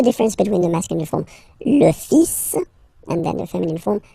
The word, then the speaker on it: fils: So it's le, and then even if you get this L, well, basically you don't pronounce it, and then strangely you pronounce the final S. Le fils.